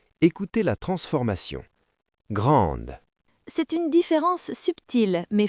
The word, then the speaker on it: grand: Au masculin, la lettre D est à la fin. Elle n'est suivie de rien, donc elle dort. Écoutez. Grand.